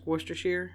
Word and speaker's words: Worcester: say it in England Worcester like werid sauce like wer Shear I say wer Shear